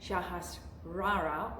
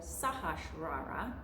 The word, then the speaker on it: Sahasrara: Today we're talking about the crown chakra, Sahasrara or Sahasrara, depending on how you'd like to pronounce it.